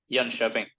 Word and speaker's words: Jönköping: Jönköping.